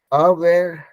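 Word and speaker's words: aware: और अवेयर जो है, अवेयर, being अवेयर of something, तो वो हमेशा कोशिश करेंगे कि अ से स्टार्ट करेंगे, अवेयर, अवेयर, ठीक है।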